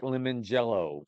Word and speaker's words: Lemongello: I don't even know when he was a professional bowler, but his name is Mike Lemongello. Like So his last name is spelled Lemon Gelllo. Jello. Mike Lemongello.